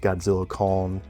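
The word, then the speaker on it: Godzilla x Kong: Um, but yeah, I I believe the director said it is pronounced Godzilla con the new empire with the X being silent.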